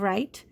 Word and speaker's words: write: other kind of right this kind of right with the WR in the magic e at the end this is the one